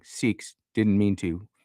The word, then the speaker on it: Sikhs: Do Muslims like living with Shiks? Seikhs. I said that wrong. Sikhs.